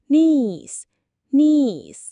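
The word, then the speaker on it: knees: และ อีก ครั้ง ค่ะ เสียง K จะ ไม่ ออก เสียง นะ คะ ออก เสียง เริ่ม ที่ N ได้ เลย ค่ะ และ สุด ท้าย สำหรับ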